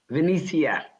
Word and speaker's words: Venetia: As we try to get her sound right, let's go to, is it Vanessa Quinn? That's the way most people pronounce it, but it's actually Venetia.